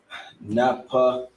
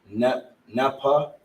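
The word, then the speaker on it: נפתלי: is Argentina to Chile, you pronounce it Naphtaliya. You understand? Which notice how he had the thou, and the la connected together. You understand? With these, you want to pronounce it Naphtaliya. So Naphtaliya is how you pronounce the tribe of Naphtali.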